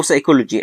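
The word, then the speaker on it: psychology: طيب لو جه الاس وراها بي أو البي بعدها اس، هنا في الحالة دي البي بتبقى سايلنت. تمام. يعني إيه؟ يعني بننطقها اس على طول. زي إيه مثلا؟ سايكاتريك. سايكاتريك طبعا معناها اللي هو إيه الطب النفسي، أو سايكولوجي علم النفس، أو سورايسز.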